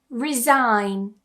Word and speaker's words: resign: Our first rule is when we have the letters G and N together at the end or towards the end of a word, we tend to remove that G completely, so don't try and pronounce it.